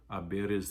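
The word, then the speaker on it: hay: there are two girls it doesn't matter it stays the same it's i you don't pronounce the h it's just h a y pronounced i the h is silent um you can also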